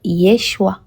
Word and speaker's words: Yeshua: Selon l'époque et la langue, on va dire Yeshua. Yeshua.